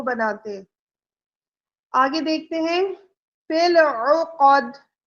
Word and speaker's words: فِي الْعُقَدِ: فِي الْعُقَدِ، فِي الْعُقَدِ، تو آئین کے اوپر پیش ہے، اس کو کھینچنا نہیں ہے، قوف کو بھی نہیں کھینچنا، آئین کی آواز اچھے سے ادا کرنی ہے.